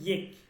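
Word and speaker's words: ایک: হে মানে হচ্ছে হে, মানে আল্লাহ এক এবং অদ্বিতীয়, আল্লাহ এক এবং অদ্বিতীয়, ঠিক আছে? আল্লাহ ইয়েক হে, এইটা বলবেন না আল্লাহ এক হে, এক বললে হচ্ছে এটা, এটা বাংলা উচ্চারণ হচ্ছে বাংলা, বলবেন ইয়েক, আল্লাহ ইয়েক হে, আল্লাহ এক এবং অদ্বিতীয়।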